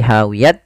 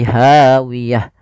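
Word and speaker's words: هاوية: Maaf, huruf ha, maka dia ganti bukan lagi hawiyat tapi hawiyah.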